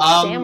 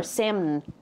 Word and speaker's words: Samn: Is your name like Sam or Samn? It's spelled S-A-M-N. Either way is fine.